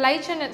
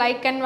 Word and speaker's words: lichen: Okay, so லைச்சன் சில பேர் வந்து லைக்கன் வாங்க, லைச்சன் வாங்க, எப்படி வேணுமோ ப்ரொனவுன்ஸ் பண்ணிக்கலாம்.